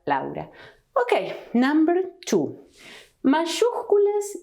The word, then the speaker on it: Laura: other possible pronunciation and the same with my name a sin father a sin louder my name is not Laura in Spanish but louder okay number two Masuka